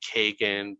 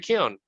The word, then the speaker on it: Keoghan: So Barry Kagan, Barry Coogan. My wife, who's Irish, is like, oh, it's Barry Keoghan.